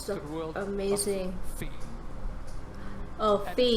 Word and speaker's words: Fe: He is here to take you into the beautiful world of our first EA Originals game called Fear. Fear? Like fear? No, fee.